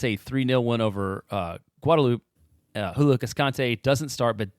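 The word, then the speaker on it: Guadeloupe: are typing right now I believe this country is actually pronounced guadaloop I know Jeremiah went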